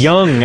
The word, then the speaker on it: Jung: I think it's Jung. Yes. It's Young, actually, but in America it's Jung. He's It's William Austrian, Hung. and you pronounce the J like a Y.